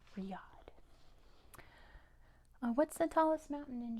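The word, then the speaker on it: Riyadh: of Saudi Arabia it's Riad yeah we were just talking about that I told you to remember it's spelled like this Riad there's a silent h at the end Riad what's the tallest mountain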